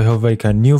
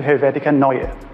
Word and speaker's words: Helvetica Neue: I chose the Helvetica New font. To Helvetica Neue. And that's how you pronounce that.